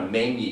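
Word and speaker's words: menzie: the foresight to bring her men that's spelled m e n z i e it's an old Scots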